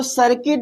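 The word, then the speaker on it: circuit: अच्छा इसके बाद फिर सर्किट तो सर्किट में भी हमारा यू कहां आ रहा है भैया? आई से पहले आ रहा है। आई से पहले आ रहा है। तो हमारा यू क्या हो जाएगा? साइलेंट हो जाएगा।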